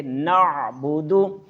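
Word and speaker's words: نَعْبُدُ: بعد واو ساکن ہوگی۔ اب اس کے سامنے واو ساکن نہیں ہے، بلکہ جو آگے واو آ رہی ہے یہ آگے و ایاک کے ساتھ آ رہی ہے، یہ واو کے اوپر زبر ہے، یہ واو متحرک ہے، اس وجہ سے نعبدو کو لمبا نہیں کریں گے، پڑھیں گے نعبدو۔ آئیے دوبارہ پڑھتے ہیں۔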